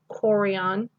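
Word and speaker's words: chorion: of the eye and then ch that's not a chess sound that's actually the hard k sound that's a choreon and then this is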